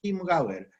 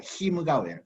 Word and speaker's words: Chiemgauer: en Baviera se pronuncia Chiemgauer, como si fuera QUI, pero bueno, se escribe Chiem, pero se pronuncia como Kim, ¿no? Que es el dialecto ahí, ¿no? Ahí en Baviera. En alemán estándar sería Chiemgauer, pero bueno.